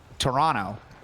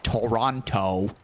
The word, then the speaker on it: Toronto: Just like the city is Toronto, not Toronto. I guess it's Toronto if you're not from there.